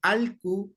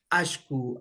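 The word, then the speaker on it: allku: Recordarles también que aquí está doble L, puede ser pronunciado como Alcu, ¿no es cierto? Especialmente la gente de la provincia de Cañar, de la Suay, de Loja. La gente del sur pronuncia muy bien Alcu, Alcucuna, ¿sí? Mientras que de la Sierra Centro-Norte tendemos a pronunciar como Ashku, Ashku, ¿ya?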